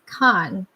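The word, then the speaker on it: Caen: the main city in Normandy, and it's called Khan, which is spelled C A N.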